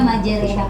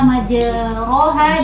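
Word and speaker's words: مجريها: Jadi di sini majere, bukan majero, tapi biasanya kan majeroha. Nah, dia bacanya majereha. Khusus di surah Hud ayat 41 itu kata majeroha dibaca dengan majereha, diimalahkan rohnya.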